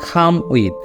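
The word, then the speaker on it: come with: তো ওইটা কিন্তু বলা যাবে না, ওই জায়গায় হচ্ছে আপনার উচ্চারণটা, অরিজিনাল উচ্চারণ সেটা হবে খ দিয়ে। ঠিক আছে, স্ক্রিনে লিখে দিচ্ছি, খ দিয়ে কিন্তু উচ্চারণটা হবে খ, খাওয়ার খ, এই উচ্চারণটা হবে খাম উইথ, খাম উইথ।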